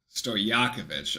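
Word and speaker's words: Stojaković: put a too strong sto yakovich all right that's how we pronounce sto yakovich I like stojakovic Anyway sto yakovich at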